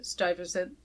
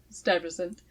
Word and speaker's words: Stuyvesant: So the town was originally chartered or granted by the original Dutch director, Peter Stuyvesant. Still mispronounced it, but I got close there. Stuyvesant.